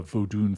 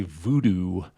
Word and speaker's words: vodun: When we say voodoo, that's like a mispronunciation of vodun or voodoo, and we're just like